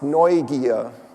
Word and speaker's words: Neugier: It's pronounced Neugier. Could you say this with me for a second? Neugier. Neugier.